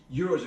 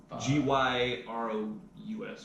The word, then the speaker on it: gyro: like 2 or 3 times a week because euros are huge in Australia for Yeah, different reasons. Are they called euros? Yeah. Or are they called GYROUS, whatever.